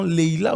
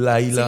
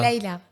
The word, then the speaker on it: Laïla: C'est parce que c'est L-A-I tréma.